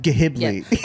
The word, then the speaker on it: Ghibli: It's pronounced Ghibli.